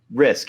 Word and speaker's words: Rizk: It's not to disrespect the ability of Rizk. Is that how you say it? Yeah, Dylan Rizk. Yeah. Rizk, yeah.